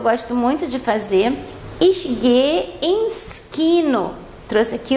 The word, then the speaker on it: gehe: O verbo gehen é o verbo ir, só chamando a atenção aqui que esse H entre os dois E's não é pronunciado, então a gente fala ich gehe ins Kino.